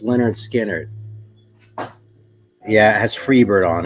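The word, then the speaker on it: Lynyrd Skynyrd: cover VG plus vinyl pronounced Leonard skinnard yeah it has Freebird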